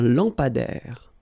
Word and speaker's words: lampadaire: Un lampadaire. Final not pronounced. Un lampadaire.